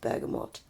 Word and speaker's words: bergamot: never gonna get over the fact that it's pronounced bergamot what it's what's in it Earl Grey yeah